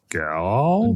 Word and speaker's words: gaal: g a g l gal gal It's like a woman southern accent, right? Gal.